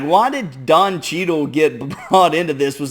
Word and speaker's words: Cheadle: black well that Don cheadle's pretty dark well just yeah heart blocker than Don Cheadle that also rhymes with Beetle that's a win-win right